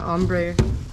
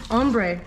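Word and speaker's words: ombré: together it's going to ombre okay there's another one um you say ombre and i say ombre but ombre is like for me it sounds like you're saying amber wrong ombre ombre there's aluminum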